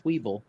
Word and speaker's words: Weeble: It's Weeble, like Weebles wobble and they don't fall down. Or Weebel, like the French way of saying.